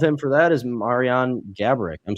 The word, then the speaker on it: Gaborik: And then the only player above him for that is Marian Gaborik. I'm saying it right? Gaborik?